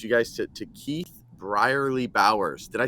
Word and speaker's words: Brierley-Bowers: gonna have introduce you guys to to Keith briarly Bowers did I say the last name right yes